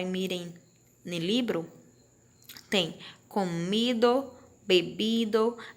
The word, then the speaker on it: bebido: no livro, tem comido, bebido, bebido e tem reído, tá? Percebam que nós temos bebido e bebido. É praticamente a mesma pronúncia, porque a letra V em espanhol tem som de B, certo?